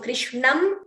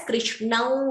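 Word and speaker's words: कृष्णं: So Krishnam Vande. You could optionally chant it as Krishnau Vande. So you're getting the Anunasika sound there instead of the Anuswara.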